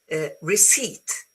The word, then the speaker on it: receipt: So receipt, you see, the P is not there.